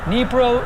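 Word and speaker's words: Dnipro: is uh in uh you can see it's pronounced pronounced nepro nepro ukraine unconfirmed report that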